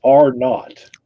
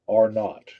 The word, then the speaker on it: R naught: So it's R naught, right? It's an R followed by a 0, R naught.